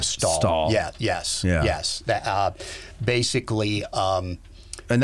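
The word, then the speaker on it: Stahel: is that right that's how do you say it did you i say julia stall yes yes basically um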